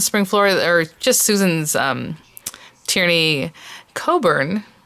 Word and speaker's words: Tierney Coburn: Flora, or just Susan's Tierney Coburn, which it looks like it's pronounced differently, but I've heard her say her own name, and that's how she said it, is a whole set